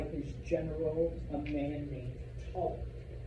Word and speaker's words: Ptolemy: Egypt is taken over by his general, a man named Ptolemy. Yes, the P is silent. All right, I'm sorry. It's like psychology or whatever other Greek word.